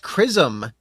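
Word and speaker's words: chrism: White crism. You sure it's not white jizz? Literally, it says white crism. It's spelled C H R I S M.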